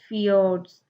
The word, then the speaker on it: fjord: Norway is also famous for its fjords, pronounced as fjords.